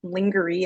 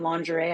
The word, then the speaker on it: lingerie: wrong you know like for me it was like lingery and lingerie I thought they were